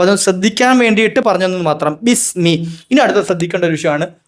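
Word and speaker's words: بِسْمِ: പറയുമ്പോൾ എന്ത് ചെയ്യണം അസ് പുറത്ത് കേൾക്കണം ബിസ് ബിസ് ബിസ് മീ മീ ഒന്ന് തെറ്റാറ മീ പറയുമ്പോൾ എന്ത് ചെയ്യണം രണ്ട്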